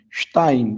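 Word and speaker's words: שתיים: Veja que tem o Shevá, então você precisa ler mais rápido a primeira sílaba. Shtaim, que na verdade é uma semivogal.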